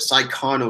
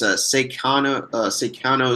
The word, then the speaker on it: Saikano: Like, I was so disappointed with Psychono season 2 that season 1 just like Wait, what's Saikano? What is that? uh I think I'm pronouncing it wrong. It's Seikano.